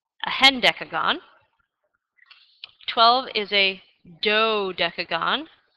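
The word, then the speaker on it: hendecagon: undecagon and I've also come across this name it's spelled h n d e c a g o n a hend deagon 12 is a do deagon 13 is a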